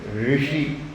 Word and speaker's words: ಋಷಿ: ನೀವು ಇಲ್ಲಿ ಕನ್ನಡದಲ್ಲಿ ರು ಅಂತೀವಲ್ಲ, ರೀಲ್ ರಿಕ್ ಅಂತ, ಆ ರು ಅನ್ನೋದು ಕರೆಕ್ಟ್ ಉಚ್ಚಾರಣೆ ಇಲ್ಲ. ಆ ರಿಯನ್ನು ಕೂಡ ನಾಲ್ಗೆ ಮೇಲ್ಗಡೆ ರಿ ರಿ ರಿ ಅನ್ನಬೇಕು. ಋಷಿ ಋಷಿ ಅಂತ ಬರಬೇಕು.